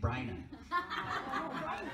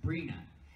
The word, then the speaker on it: Brina: He kept saying Bryna. And she kept correcting him. Like, every few seconds, she would have to say, it's Brina.